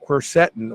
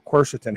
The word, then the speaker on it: quercetin: and more information about quercetin, or quercetin, however you want to pronounce it, in anti-aging research.